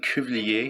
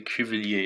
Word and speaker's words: Cuvillier: I'm at 1616 Cuvillier in the Hochelaga sector of the city. Cuvillier is spelled C-U-V like Victor, I-L-L-I-E-R, Cuvillier.